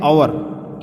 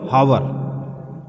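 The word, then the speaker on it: hour: तो देखिए यहाँ पे आवर, ये प्रोनाउंसिएशन इसकी है आवर, नॉट हावर। तो यहाँ पर ओ की साउंड आ रही है, साउंड क्या की आ रही है, ओ की आ रही है। ये स्टार्ट एच से हुआ है लेकिन साउंड आई है आवर की।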